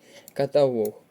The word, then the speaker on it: каталог: слово теж не підходить каталог наголос на третій склад іросло наголос на другий